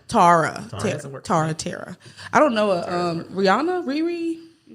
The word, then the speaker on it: Rihanna: Rihanna. Rihanna. That's how you pronounce it.